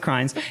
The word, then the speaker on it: Crines: But when I was talking about the trial, the Anita Crines trial, I always get her name wrong because it's so... The spelling. You got it right this time. Okay, I went with Crines.